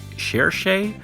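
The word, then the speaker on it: Cherche: a church uh or apparently we now have official pronunciation it's cherishay I will probably forget that within a week but uh apparently that's how you pronounce it after all these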